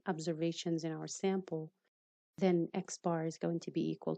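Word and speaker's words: x̄: The sample mean denoted x, and there's a bar on top of it. We pronounce it x bar, is computed using sample data.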